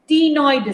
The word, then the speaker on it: ctenoid: Here the exoskeleton is made up of cycloid and ctenoid scales. C is silent here.